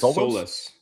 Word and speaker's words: Saliba: And like you said, they brought in uh Sorry, will you pronounce his name for me one more time? Yes, Saliba. Saliba, okay.